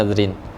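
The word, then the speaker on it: نذرٍ: Itu apa? Au nadrin. Bacanya nadrin.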